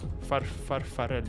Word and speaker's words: Farfarello: Farfarello.